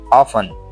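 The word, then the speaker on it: often: पांच नंबर पे है ऑफन। लोग ज्यादातर इसको क्या कहते हैं? ऑफन। यह ऑफन नहीं है। ये ऑफन है। इसमें क्या है? टी जो है वो हम साइलेंट करते हैं और उर्दू में आप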